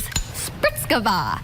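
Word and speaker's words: Spritzgebäck: and from the name for spice cookies is spritz kava it's like - spelled spritz ge back so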